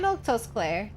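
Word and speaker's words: Milquetoast Claire: infinite gravel glitch uh I'm milk toast CLA that's how you say my name what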